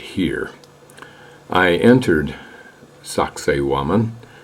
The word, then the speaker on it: Sacsayhuaman: right here I entered Sak woman pronounced sexy woman for we greenos who probably can't pronounce suxy woman I entered from Cusco